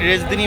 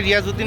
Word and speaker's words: রিয়াজউদ্দিন: market অথবা রিয়াজউদ্দিন market চট্টগ্রামের মানুষরা উচ্চারণ করেন রেজদিনি মার্কেট হ্যা বেসিক্যালি এটা রিয়াজউদ্দিন market new market area তো